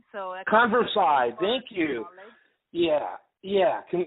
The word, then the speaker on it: Konversai: it's converse i with a k' so a converse I thank you yeah yeah can you converse I'd but let me spell it kon V er s AI comm ko